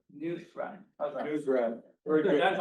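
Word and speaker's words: Nusrat: Think of it as a newspaper. Reading a rat. Reading a newspaper. News rat.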